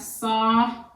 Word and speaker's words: sovereign: So you have sovereign, Sovereign is a 3-syllable word. You have sov. Central dot will go there. Ren. Sovereign. Sovereign.